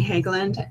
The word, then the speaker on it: Hagland: So today, Janine McMahon and Naomi Hagland, is that how you say her last name? That is how you say it.